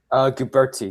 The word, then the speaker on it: Guberti: pronounce your last name how do you pronounce it goober T so T sin d'hubert